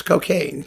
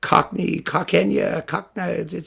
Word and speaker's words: Cockaigne: It's cocaine, but Cockaigne, he spelled it strangely.